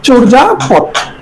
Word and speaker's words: চর্যাপদ: প্রদত শব্দ আছে চর্যাপদ এটা উচ্চারণ চর্যাপদ চর্যাপদ কারণ আমরা এখানে চর মত চে ম চরপদ খেয়াল করবে এই যে অন্তস্থীয় জ আমরা যখন উচ্চারণ করি সবসময় বর্গীয় জ লিখতে হবে চরজা পথ এরপরে রাষ্ট্রপতি রাষ্ট্রপতি আমরা